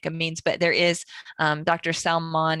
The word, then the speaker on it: Salmon: Salmon, it's spelled like Sam, like Salmon.